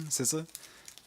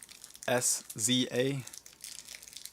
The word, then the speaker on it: SZA: SZA, I think is how you say her name. SZA. SZA.